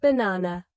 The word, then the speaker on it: banana: For example, in the word banana, the stress is on the second syllable.